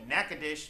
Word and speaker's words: Natchitoches: the way down to Natchitoches Louisiana it is spelled Nacogdoches for those people just don't know how to talk earlier this week I